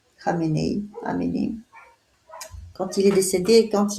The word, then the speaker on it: Khamenei: où le chef iranien Amenei, je ne sais pas si en français ça se prononce comme ça, Amenei, est décédé. Khamenei.